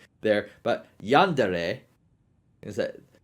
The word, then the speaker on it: Yandere: At least I can say it better than Stuttering Craig trying to say Yandere. It was hilarious. Like, he said Yandori. I don't know where he got the OR, the O, the O there, but Yandere is that.